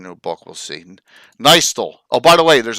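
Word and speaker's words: Nystul: Len pronounced it Nystol, and everyone pronounces it Nystol, whatever you so choose.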